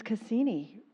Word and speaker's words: Cassini: And my name is Cassini. Rhymes with casino, just in case.